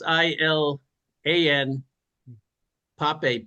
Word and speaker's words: Ilan Pappé: And again, my favorite guy to go to is his Israeli historian named Ilan Pappé. He kind of has Elon Musk's name, but I think it's spelled differently. It's Ilan Pappé, Pappe.